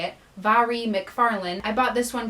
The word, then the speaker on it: Mhairi: This is another book from a charity shop in York, and it's called It's Not Me, It's You by Mhairi, that is how you say it, Mhairi McFarlane.